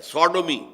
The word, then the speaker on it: Sodom: منسوب کیا گیا ہے، سوڈومی، سودوم وہ شہر تھا، صدوم جس کو ہم کہتے ہیں، سوڈوم SODOM، یہ بائبل میں اس کا تلفظ ہے، تو اس سے یہ